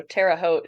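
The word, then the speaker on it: Terre Haute: by that it's uh the French fur Trappers got there first so Tera hot is how you say it but I've very rarely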